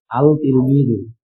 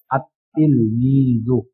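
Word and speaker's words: التلميذ: বরং তখন সেখানে উচ্চারণ করতে হবে আতলমিদু তখন আলিফটা সরাসরি কাকে ধরলাম লামটা বা আতলমিদু এ দেখেন আতলমিদু লাম ছাড়া উত্তর হয় আত ইলমি এখানে লামটা লেখা আসলে উচ্চারণ হবে না।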